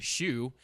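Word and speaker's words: chou: uh phil a chew c-h-o-u pronounced shoe is the word for cabbage in french obviously you were talking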